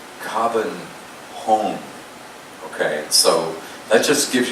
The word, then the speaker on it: Copenhagen: The actual pronunciation of the city of Copenhagen or Copenhagen is Copenhagen.